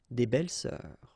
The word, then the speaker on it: belles-sœurs: Same rule here, S and S, but you don't pronounce it. Une belle-sœur, des belles-sœurs, okay?